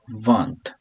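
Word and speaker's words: vingt: 20 is one or vant. Some people pronounce the T, some people don't.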